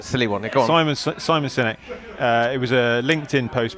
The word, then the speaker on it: Sinek: Sinek, yeah. I have got a champagne moment. I've thought of it Okay, now, all right. but it's a quick one and a silly one. Go on. Simon Sinek.